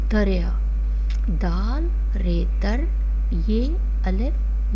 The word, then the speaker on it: دریا: دوسرا لفظ ہے دریا، دریا، دال رے در یہ الف یا، دریا، دال رے در یہ الف یا، دریا.